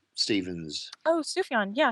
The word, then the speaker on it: Sufjan: Sufjan Stevens. Oh, Sufjan. Yeah, Sufjan.